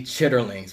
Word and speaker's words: chitterlings: As far as soul food, if you know anything about the black community, there's a staple dish called chitlins. Pronounce it properly, chitterlings, right?